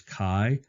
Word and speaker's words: chi: some people pronounce this chive and that's not correct the greek letter is actually chi it's the same sound as you see in the in the word lock so lock is spelled